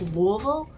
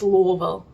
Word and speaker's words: Louisville: And yes, it is pronounced Louisville. You say it like you've got golf balls in your mouth. I keep on hearing people say it Louisville, and I'm like, no, it's Louisville.